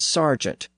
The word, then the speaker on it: sergeant: affected by that change servant retains one pronunciation and Sergeant retains the other this also explains why that initial vowel sound in Sergent is spelled with an e and not an a the word is